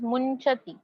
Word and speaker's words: मुंचति: And this word is मुंचति, मुंचति। So nasal consonant use हुआ है यहाँ पे, सो अनुस्वार जैसा प्रोनाउंसिएशन करना, मुंचति।